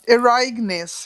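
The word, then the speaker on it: Ereignis: say your name um eragness it's from heidegger it means the event it means the event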